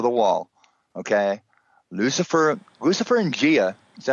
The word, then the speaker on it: Gaia: Gaia? We say Gaia. Gaia. Yeah. Okay. Right. Right. Okay. Gia, Gaia.